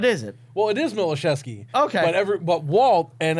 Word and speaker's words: Miloszewski: by that what is it well it is malachesky okay whatever but Walt and everyone else on Tom Steve Dave calls it milazowski so what's had it for five years no